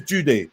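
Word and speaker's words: Jidu: name was judy yeah his name is judy pronounced judy however it's spelled j-i-d-u we had years of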